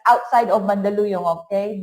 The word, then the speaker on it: Mandaluyong: And I met him, he lives in Mandaluyong City, but it's outside of Mandaluyong, okay? Not inside. There's a joke in the Philippines about that. How do you pronounce Mandaluyong?